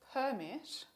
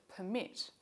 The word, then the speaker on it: permit: which syllable is stressed for example compare the noun permit an official document of authorization with the verb permit to auth to give authorization or consent to someone in english which syllable